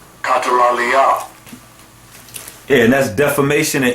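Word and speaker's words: καταλαλιά: And the Greek word there is pronounced as such. Strong's G 2636. Katalalia. Katalalia.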